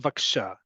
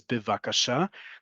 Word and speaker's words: bevakasha: is efshal or efshal vaksha. Listen to how I say it and look at the transliteration here. Vaksha. That's not the correct pronunciation of the word, which is bivakasha.